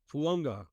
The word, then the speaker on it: Fuaga: But talking on Fuaga, that's how you pronounce it, correct? Fuanga.